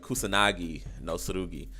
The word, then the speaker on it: Kusanagi no Tsurugi: The Kusurugi no Suru. Hold on. I just forgot how to say it in that quick a time. The Kusanagi no Tsurugi.